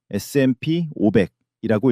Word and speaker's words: S&P 500: 이름이 어렵죠? S&P 500이라고 읽습니다.